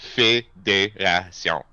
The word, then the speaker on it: Fédération: Like federation, yeah. but the E's are A's. So it's Fédération. Why don't we spell it that way? Fédération? Did I do it? Fédération. Ah, I still fucked it up. The Tion is like an Sean. Sion Sean. sound.